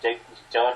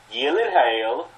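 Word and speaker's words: Gyllenhaal: Jake Jon Hall's name is that pronounced Jake jonal how' it pronounce Yen hail screw that gyllen Hall I don't know how they get gyen Hall from Yen hail yo people call people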